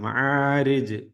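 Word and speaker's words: المعارج: നാവിന്റെ അറ്റത്ത് ഉച്ചരിക്കാൻ ശ്രദ്ധിക്കുക മഹാരിജ് ജീമില് വഖഫ് ചെയ്യുമ്പോൾ ഒന്ന് കട്ടികൂട്ടി ഉച്ചരിക്കണം വഖഫ് ചെയ്യണം മഹാരിജ് മഹാരിജ് അങ്ങനെ എന്ന് നമ്മൾ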